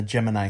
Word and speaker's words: Gemini: looks so different from the Gemini stuff or the geminy as they pronounced it in the in the uh in the movie um it looks so